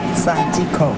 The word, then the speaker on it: 霞夕子: 怎么念呢？沙鸡口。而且沙西口嘛，是这样吗？